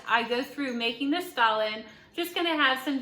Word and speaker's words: Stollen: Christmas fruit bread, and I actually had to go online because I think I was saying it wrong in my other video. It's actually Stollen. There was a gentleman who had a little video that said how to say stolen, and I've been saying Stollen this whole time, I think.